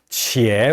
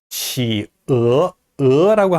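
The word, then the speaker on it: 企鹅: 이 펭귄은 치어 이렇게 발음합니다. 만약에 요게 가운데 요 격음 부호가 없다면은 뭐 성조가 두 개씩 있으니까 이상한 그런 표기법이 될 수도 있고요. 뭐 치에 뭐 이렇게 발음할 수도 있겠는데요. 정확하게 발음하면은 치어 이렇게 발음을 합니다.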